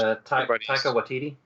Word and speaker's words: Taika Waititi: Yeah, that episode 8, I was thinking, because the director was, I always mispronounce his name. Anyone? Chris knows. Taika Waititi.